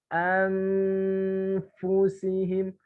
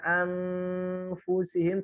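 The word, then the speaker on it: أَنْفُسِهِمْ: Makanya nanti ketika ada nun sukun atau tanwin bertemu dengan huruf fa, bacanya bukan anfusihim, ini salah. Terus gimana bacanya? Anfusihim. Kelihatan ya wajah saya di layar antum. Anfusihim. Bukan anfusihim, tapi anfusihim. Jadi bibirnya agak mau menempel kepada gigi seri atas.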